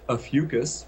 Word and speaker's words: Ophiuchus: with this controversy over a fugus rhymes with mucus is that um it